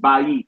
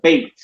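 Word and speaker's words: בית: So it goes from bayit to bait. Bayit to bait. All right?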